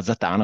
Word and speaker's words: Zatàna: che mi è rimasto la band invece si chiama zatan con l'accento sulla Terza a questo per perché comunque